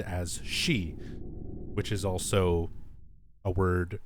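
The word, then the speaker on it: 四: the number four is considered very unlucky the pronunciation for it can be said as she which is also a word meaning death so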